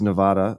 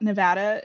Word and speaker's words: Nevada: So first key about Nevada is that only if you are not from Nevada do you pronounce it Nevada.